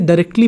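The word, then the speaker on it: directly: इसका मतलब ये आर का साउंड पढ़ाएगा, ये साइलेंट नहीं होगा, इसलिए हम इसे डायरेक्टली बोलते हैं, हम इसे डायरेक्टली नहीं बोलते।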